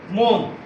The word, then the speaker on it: মন: বর্ণ কোনগুলো যেমন আমরা যদি লিখি মন এখানে লক্ষ্য করো ম এর সাথে কিন্তু অধনি লুকায়িত আছে তো অধনিতে এই ম এর সাথে অ থাকার ফলে এবং এর পরে দন্তান্য আছে যার ফলে এটার উচ্চারণ হবে ম ওকার দন্তান্য মন আজকে এটা ছিল আমার প্রথম ক্লাস।